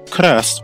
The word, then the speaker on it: KRST: for Christ spelled krst can be broken into the following two syllables car and rest the k sound is